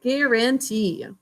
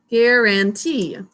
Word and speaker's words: guarantee: ready to go with guarantee. G, a syllable break, a n syllable break, t, e, guarantee. For our markings, we're first going to underline that G, two-letter G, always followed by a vowel.